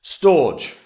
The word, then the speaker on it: Storj: storage they want it to be pronounced storage but I will never do that storge so um decentralized physical